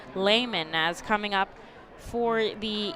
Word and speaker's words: Lehman: back on the mound taylor lehman layman excuse me for the fight and fills i might talk to him before the ball game to make sure i got that pronunciation correct it's taylor layman as coming up for